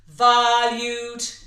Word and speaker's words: valued: So it's forward and back, yeah? We don't want to put the accent on the two syllables. We want them on the syllables that make our audience understand our words.